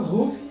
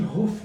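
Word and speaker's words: Huf: O H substituiu o R ali. Neste caso da pronúncia, sim, Ruf, né?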